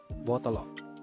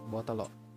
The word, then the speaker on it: botolo: Kalau bahasa Bugis dari botol itu adalah botolo ya, kita tambah o aja di belakangnya ya, botolo, tapi dengan agak cepat pengucapannya, botolo ya, botolo.